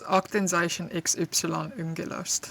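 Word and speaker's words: Aktenzeichen XY … ungelöst: which I don't know how to pronounce very well. Upsilon. Yeah. What is it? Do you remember, Laura? Yeah, it's Aktenzeichen XY ungelöst.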